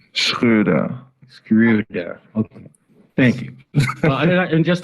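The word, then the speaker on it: Schröder: hear from you how is your last name pronounced screwdriver screw there okay thank you and just a follow-up question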